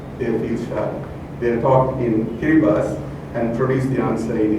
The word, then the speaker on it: Kiribati: It's spelled differently, Kiribati. You and I will say Kiribati, which is what I did. And he said, no, the local people call it Kiribati.